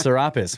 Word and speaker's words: Serapis: It is actually pronounced Serapis, which is the weird merging Greek/Egyptian.